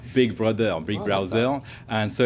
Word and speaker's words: Big Browser: called Big browser which if you pronounce it in French actually sounds like Big Brother Big Brother Big Brower and so it's a